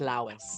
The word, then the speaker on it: Lois: So it's pronounced Lois.